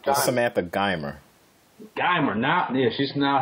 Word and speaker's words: Geimer: Her name, pronounce that for me, please. It's Samantha Geimer.